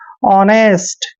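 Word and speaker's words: honest: ई एस टी देखिए जब भी ओ से पहले एच आता है तो वहां पर एच हमेशा साइलेंट होता है यानी कि एच का उच्चारण हमने नहीं करना है ओ का उच्चारण ओ करेंगे ऐसे और एन को न पढ़ेंगे ई को ए की मात्रा लिखेंगे और एस को स लिखना है और टी को ट पढ़ना है ऑनेस्ट ऐसे ऑनेस्ट हो जाएगा ईमानदार जैसे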